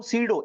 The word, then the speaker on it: pseudo: ऐसे फोर्स को हम सीडो इमेजिनरी ये सीडो सीडो की स्पेलिंग प से शुरू होता है देखो सीडो इसे अगर